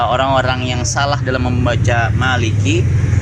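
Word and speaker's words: مَالِكِ: Maka Maliki di situ harusnya kan panjang, Maliki yaumiddin. Malah seperti pengucapannya seperti di ayat surah An-Nas, Malikin Nas. Jadi pendek juga ikut, dikiranya sama dengan pengucapan Malikin Nas, padahal berbeda.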